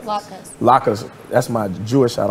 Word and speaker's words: latkes: You know, you get an option of like a salad, potato, lox. That's how you pronounce it, right? Latkes.